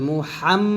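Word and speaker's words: محمد: আশহাদু আনা মুহাম্মাদার রাসুলুল্লাহ এখানে মুহাম হা চাপ বলতে হবে মুহাম বলতে হবে তো আমি যদি এটা বলি তাহলে ঠিক আছে আমি সাক দিচ্ছি মুহাম্মদ সাল্লাল্লাহু আলাইহি সাল্লাম আল্লাহর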